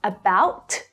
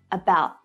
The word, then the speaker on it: about: So I don't fully release the air after that T to make a complete T sound. Not about, but about.